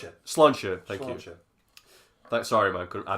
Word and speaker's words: Sláinte: How do you pronounce it? Sláinte.